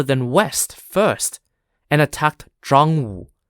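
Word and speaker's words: Zhangwu: Army North rather than West First and attacked drong z h a n g w u taking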